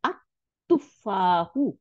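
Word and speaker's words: التُّفَّاحُ: এই তার সামনে যখন আল আসবে তখন লামটা তা হয়ে যাবে, তা হয়ে তার উপরে সাদ্দা দিয়ে দিবে। তাহলে এখন দেখেন তার উপরে সাদ্দা দিয়ে দিছে। তাহলে আত, আমরা পড়বো এই এই হামদুল ওয়াসলের উপরে জবর দিবেন, দিয়ে আত তুফাহু, আত তুফাহু, দা অ্যাপেল।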